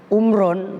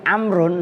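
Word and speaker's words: عمرٌ: Bermula ya maknanya umurmu tapi bukan bacanya bukan umron tapi amrun nanti ada keterangannya sungguh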